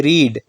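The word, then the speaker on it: read: रीड की second form of verb है रेड। इसकी प्रोनाउंसिएशन डिफरेंट है। लेकिन स्पेलिंग दोनों की सेम होती है रीड की और रेड की स्पेलिंग सेम है। इसको रेड पढ़ा जाता है।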